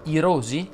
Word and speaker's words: irosi: Per esempio la parola irosi, che è il plurale di iroso, che significa pieno d'ira, va pronunciata con la O chiusa.